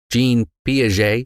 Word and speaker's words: Jean Piaget: Jean Piaget or Jean Piaget.